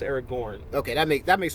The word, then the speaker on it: Aragorn: Uh, I'm much more of a Aragon guy than I am a Gandalf guy. Okay. Aragorn. Aragon. Aragon is Or is Aragon the one with the dragon? Yeah. Aragorn. Aragorn is always pronounced Aragorn.